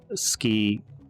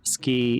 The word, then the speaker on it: 好き: In ski, the U is very faint.